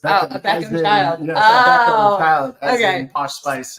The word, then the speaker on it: Beckham: And Romeo Beckman, and it was a fused. Beckham. Beckham. Oh my goodness. Beckham, a Beckham child. Yes, Beckham child.